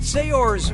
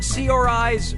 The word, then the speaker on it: Saoirse: yeah sure you do how do you pronounce her name Saoirse Ronan Saoirse Ronan say yours Ronan or see our eyes Ronan okay what'd